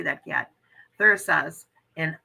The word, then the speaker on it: Thurisaz: And today we're going to talk about Thuras. I don't know how to say that. How do you say that, Kat? Thurisaz and Anzus. Thurisaz and Anzus.